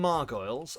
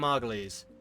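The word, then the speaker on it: Margolyes: Or it's Margalles, isn't it? I always pronounce it wrong. Miriam Margalles. Yeah, thank you. I knew you were going to say this, geek. Yes, I always get it wrong.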